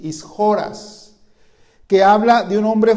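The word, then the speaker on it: ἰσχυρός: La palabra de hombre fuerte, hermano, es una palabra griega que se pronuncia ishoras, así, ishoras, que habla de un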